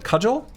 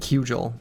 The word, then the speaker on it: cudgel: So I think I said Cugel when I was a kid.